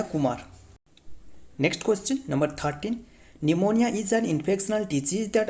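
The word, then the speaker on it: pneumonia: infection disease that affect निमोनिया जो कि P silent वड याद रखना यह एक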